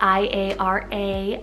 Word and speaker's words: Iara: Iara, spelled I-A-R-A, Iara.